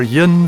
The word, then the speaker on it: yin: Common Scots pronunciations are yin for 1 and twa for 2, fower for 4, pit for put, and more becomes mair, while money means many.